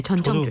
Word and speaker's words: 전청조: 네, 전청조 씨. 혹시 천정조라고 발음한 적이 있는지 모르겠는데요. 네, 전청조 씨. 이름이 되게 좀 이렇게 발음하기가 좀 그래서 전청조입니다.